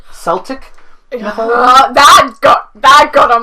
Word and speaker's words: Celtic: forgive that even though it's supposed to be pronounced Celtic and anybody who says Celtic to my face I swear I'll get mad watch for in another